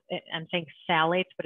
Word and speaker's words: phthalates: is spelled and thinks phthalates but it's spelled p h t h a l a t e f so phthalates like the ph is silent so fortunately they're starting